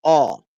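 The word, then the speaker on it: Å: simply called a but it's pronounced all which means River so the town is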